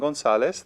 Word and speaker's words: González: Some people spell the last name González, their last name with a Z at the end.